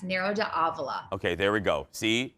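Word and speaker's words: Nero d'Avola: do you say that narrow d'avila narrow as in like narrow-minded narrow it's not a javelin yeah it's narrow de avla de avla yes nero to avila okay there we go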